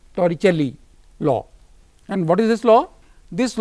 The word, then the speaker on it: Torricelli: an Italian and the for the pronunciation the Torah celli law and what is